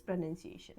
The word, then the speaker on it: pronunciation: प्रोनाउंसिएशन PRO, pro, none, NUNCIATION, this is pronunciation, okay. So option number A is the correct answer. Pronunciation PRONUN होता है, PRONUNCIATION।